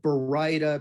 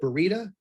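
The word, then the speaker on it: baryta: to talk about is uh what we call Bar papers Bara now um uh Bara is one of the most mispronounced words we have in our vocabulary that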